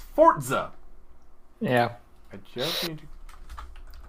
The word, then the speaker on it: Forza: Oh yeah, that's it's not Forza. No, it's Forza!